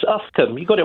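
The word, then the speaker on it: Uffculme: How do you pronounce this one, Mike? It's Ufcombe. You got it right last time, James. Ufcombe, did I?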